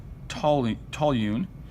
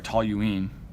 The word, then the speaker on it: toluene: for something called pure Tolley tal Yoon and this I'm sorry toluene this should be spelled like that toluene so notice the difference